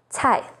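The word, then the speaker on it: 菜: C sounds like ts, as in cai, vegetable or dish, cu, vinegar, and cai cuo, to get something wrong.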